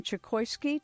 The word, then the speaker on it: Chokoisky: we'll be right back our guest is Simon chokoski did I pronounce that right yes the five Dharma types